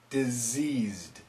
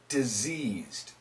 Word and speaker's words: diseased: and it's not touching the teeth deceased deceased diseased diseased he is diseased the deceased man died because